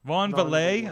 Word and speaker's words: Van Vleet: I've seen the Chris Van Vleet uh interview and did I say his name right? I never like hear it. So is Vonal. Von Valle.